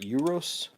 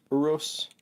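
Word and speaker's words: Urus: is the lamborghini and i'm not going to pronounce right euros uros u r u s this is an older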